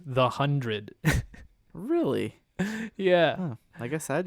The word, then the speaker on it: The 100: on Wikipedia it says the one zero zero parentheses pronounced the hundred really yeah I guess